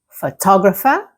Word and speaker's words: photographer: Photograph, the stress is on the first part. Photography, the stress moves to the second part of the word, like photographer.